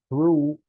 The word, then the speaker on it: through: Directly to the consumer through our online store. Through. I know there's a lot of letters there, but you pronounce it through.